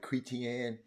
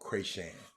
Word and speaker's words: Crashan: Jamal, I called it Cretian. It's Jamal Crashan. Jamal, I got it right.